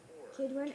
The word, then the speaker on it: Kidron: Verse six, and he brought out the wooden image from the house of the Lord to the brook How to pronounce Kidron Kidron outside Jerusalem.